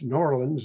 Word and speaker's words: New Orleans: It's New Orleans, isn't it? If you pronounce it properly.